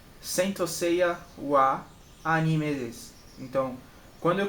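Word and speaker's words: は: Como eu disse antes, ó, é a letra ha, só que quando ela está sendo usada nessa função de partícula, ela vai ser usada como o a. Então, sensei wa anime desu.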